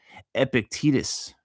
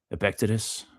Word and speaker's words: Epictetus: This is a Epictetus. I wonder if that's how you say his name. Epictetus. Epictetus. That's got to be Epictetus. I don't know. I don't read Greek.